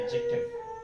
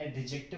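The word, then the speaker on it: adjective: Next एडजेक्टिव, इसको पढ़ते क्या है, इसमें क्या होता है, ये जो डी होता है वो साइलेंट होता है, इसे बोलते हैं एडजेक्टिव, नॉट एडजेक्टिव, नहीं एडजेक्टिव, ठीक है।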